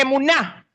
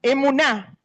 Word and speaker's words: emuná: Pero cuando nosotros creemos o entendemos que emuná, acento en la A, emuná, que hay seguridad en